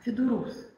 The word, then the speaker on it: ФЕДУРУС: процесса сказа следующий термин федус мы всё-таки ставим ударение на последнем слоге Ну хотя возможны варианты Этот проект появился позднее